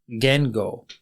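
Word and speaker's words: 言語: language and that is Gango Gango is spelled g n Go and Geno is very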